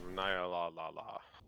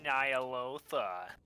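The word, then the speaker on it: Ny'alotha: Welcome to Zaki Boy, Harbinger of Nyalala. Actually, it's pronounced Nyalotha.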